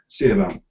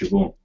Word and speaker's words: Siobhan: Seabound. What a crazy name. Who's called that? Well, it's pronounced Siobhan. Oh. But it reads Seabound.